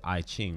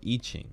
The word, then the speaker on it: I Ching: of wisdom called the I Ching or eaching depending on how you pronounce it and it uses these